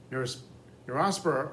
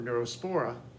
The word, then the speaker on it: Neurospora: necessarily a huge mistake neurospora or neurospora uh again more than one way to pronounce something is a bread mold